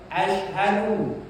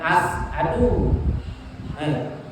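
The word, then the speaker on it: أشهد: boleh salah-salah huruf-hurufnya ya Ashadu syin bukan asadu Ashadu ha Ashadu Bukan asadu bukan asadu Ha Ashadu kalau kita rubah tidak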